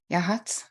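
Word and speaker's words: Yachats: Yahats on the Oregon coast. Did I say it right, Yvonne? Yahats?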